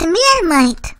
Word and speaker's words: Marmite: with lumpy mashed potatoes hot dog relish and marmite yes ma'am and it's pronounced mere might oh right we do horse puns and stuff